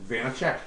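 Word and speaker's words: Vaněček: You know that's how you remember how to pronounce Vanichek's name. Yep. VTEC Vanichek.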